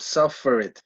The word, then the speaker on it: suffer: West, how do you pronounce the word suffered? Like that? Suffered? Suffered. Oh, yeah, suffer. Yeah, the pronunciation has the accent on the first syllable.